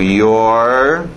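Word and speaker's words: you're: You are ficando your. Mesma pronúncia daquele outro your, possessivo.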